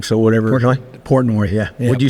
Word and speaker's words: Portnoy: It might have been because Dave Portis was wearing that BYU jersey, so he took all the heat. But I think I said his name wrong, so whatever. Portnoy, yeah.